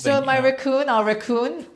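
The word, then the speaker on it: Wreckon: So my raccoon, our raccoon, it's spelled W R E C K O N. So but it sounds like a raccoon like this like the animal.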